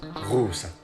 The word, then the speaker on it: Auset: So, here are the names of those gods in the original Egyptian language. Ra, Re-o. Osiris, Wasir-it. Amun, Yamanu. Isis, Auset. Horus, Haru.